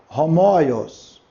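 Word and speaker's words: ὅμοιος: Aqui nós temos o homoios, porque nós temos um sinal aspirado. Tá vendo? É só observar. Se tem um sinal aspirado, eu tenho que colocar aqui um H, para ter um som de um R fraco.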